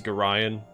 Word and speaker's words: Gorion: So, the official pronunciation of Gorion is Gorion, but I've always said Gorion, so I'm going to keep saying that.